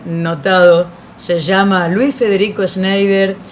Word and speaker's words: Schneider: ¿Cómo se pronuncia el apellido primero? Schneider.